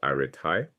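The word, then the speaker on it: ἀρετή: He introduces a concept the Greeks called arete, pronounced arete.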